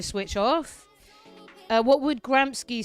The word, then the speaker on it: Gramsci: Do you know where you pronounce Gramsci like that in England? Kairos is coming at me. Gramsci. No, it's Gramsci, mate.